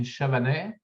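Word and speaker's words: Chavanay: are sitting in in the and can you pronounce the town for me uh we are located in chavane so chavene is a little city located on the on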